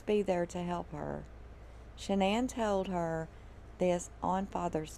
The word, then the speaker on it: Shanann: problems he said that she pronounced her name shanann but her mom pronounces her name shannon and jeremy said that